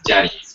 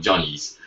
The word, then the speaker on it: Johnny's: We pronounce it Jenny's, but it's actually called Johnny's.